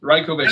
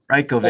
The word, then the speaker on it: Rajkovic: So think like if you want to think about it in English, like think rye like the grain. Rye like the And then like knockout, except you pronounce it. Rajkovic.